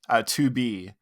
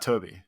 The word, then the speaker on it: 2B: 2B is the one that, not Toby.